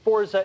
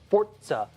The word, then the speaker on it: Forza: i found out that it's not you're not supposed to pronounce it forza it's forza uh thank you italy for